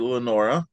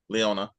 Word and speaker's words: Leona: Uh, you played Lenora or Lenona. Leona, I got that name wrong three times.